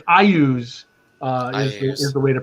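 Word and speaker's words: Iuz: There actually was a pronunciation guide in Dragon Magazine in the early 100s. It's Ayus, apparently.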